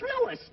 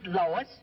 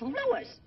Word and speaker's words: Louis: the plant lois lois my name is louis not lois jake where is everybody in tripoli's my name wrong it's lewis l o u now